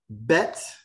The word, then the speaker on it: bet: aleph which is silent bet sounds like b like a ball in a box there's the ball in